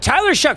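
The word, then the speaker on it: Shough: But Tyler Shuck from the horse's mouth. He says it's pronounced shuck like you know like huck like you'd huck corn.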